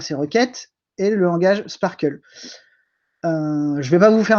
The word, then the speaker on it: SPARQL: outil en plus généraliste qu'on appelle le sparkle ou sparql s'il est prononcé en français et donc sparkle c'est